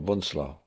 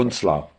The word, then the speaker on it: Bunzlau: Kittelstreben, we went to Buchenwald or Dora or Bunzlau.